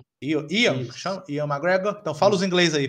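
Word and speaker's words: Ewan McGregor: com aquele, eu não sei se é isso, Evan McGregor. Ian McGregor.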